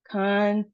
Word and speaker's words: contagion: Our next one, three syllables, emphasis on our second syllable, and then we see there's a long sound for the A. Contagion.